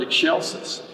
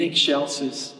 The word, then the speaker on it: excelsis: to say the word excelsis and i remember my children's choir director sharon knapp taught us the very simple way and she just said say eggshell and then she said